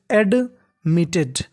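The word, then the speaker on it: admitted: वॉज, सी वॉज एडमिटेड, मिटेड। अब देखिए T दो बार है, उच्चारण एक बार करना है, और TED इसे हमें पढ़ना है टेड।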